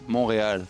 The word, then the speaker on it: Montréal: Montreal? In French. It's a French word, right? And in French it's Montréal.